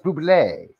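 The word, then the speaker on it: Bublé: It's not Bubble, it's Buble.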